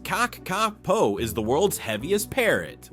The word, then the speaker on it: kakapo: Native to New Zealand, the cacapo, pronounced caako, is the world's heaviest parrot, weighing up to 9 lbs.